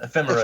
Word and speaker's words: Ephemera: mess the pronunciation up, Ephemera? Ephemera, yeah.